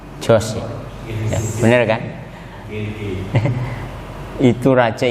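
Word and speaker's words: George: Tulisannya Georgi. Nah, Georgi. Bacanya apa? Jos.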